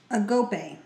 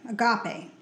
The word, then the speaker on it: agape: The Bible refers to this kind of love by using the Greek word agape, pronounced agope, agape.